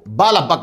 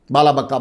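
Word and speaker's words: بعلبك: तो यह शहर का नाम हुआ बाल बक, बड़ा काफ। मैं बार बार बड़ा काफ क्यों कह रहा हूं, इसलिए कि किताबों में छोटा काफ मिलेगा, बल्कि इवन हमारी किताबों में भी छोटा काफ मिलेगा, बाला बक्का बोलते उसे।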